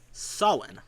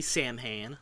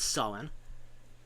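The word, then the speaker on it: Samhain: he explains to Dan is a festival called Sen. And he does say so. He does pronounce it correctly. Um he doesn't say Sam Hayne like Ghostbusters or Supernatural do. He says Sen.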